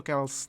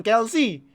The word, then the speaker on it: Kelce: Kels ya, bukan Kelsey. Ingat, Travis Kelce udah bikin press conference loh, demi nge-pronounce namanya gimana yang bener. Dia bikin press conference loh. Nama saya bukan Kelsey, nama saya Kels. Kels ya, jangan Kelsey, Kels.